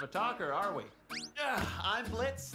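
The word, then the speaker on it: Blitzø: talker are we I'm Blitz the O is silent I'm sure we're going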